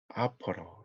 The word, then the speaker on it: opera: 뭐라고 하냐면 코리안 모노 아퍼러 이렇게 해요. 오페라라고 읽지 않고 아퍼러라고 읽어요. 그래서 이제 판소리가 해서 외국인이 여러분에게 What does 판소리 mean? 이러면 It's a Korean mono opera. 우리말로 하면 아퍼러에 가까워요.